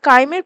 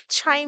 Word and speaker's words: chyme: এবার কাইমের প্রবেশ নিয়ন্ত্রণ করে, মানে এটা বেসিক্যালি যেহেতু CHYME হয় তাই এটা এখানে ট্রান্সলেশনে ছাইম দেখাচ্ছে, বাট ইটস অ্যাকচুয়ালি কি প্রোনাউন্সিয়েশন হয়? কাইম। এবার কি বলছে?